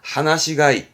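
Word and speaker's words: 放し飼い: 그걸 발음은 하나시가이, 하나시가이, 풀어놓고 뭐 키우는, 뭐 들판에 보면 뭐 양이라든가 뭐 이렇게 돼지라든가도 풀어놓고 키우잖아요.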